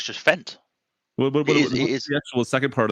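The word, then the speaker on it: Fendt: Do you put a little bit of twang on that Fent, or do you just how do you say it? It's just Fent.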